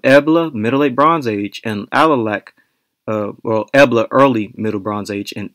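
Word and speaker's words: Alalakh: So, basically, ancient Caucasian groups cannot successfully model EA early middle bronze age and alac middle late Bronze Age. And by the way, that's how I'm going to pronounce it. Alac.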